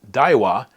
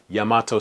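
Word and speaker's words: 大和: So for example, these 2 characters would be pronounced daiwa when used in Daiwa Ginko. However, if it's a city, it's Yamato City.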